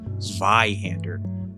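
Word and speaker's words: Zweihänder: It's pronounced Zweihander.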